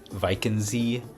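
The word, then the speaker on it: Walchensee: But that's said like there's some words like we went to that lake called Viky. It's spelled looks like walking sea if it was English.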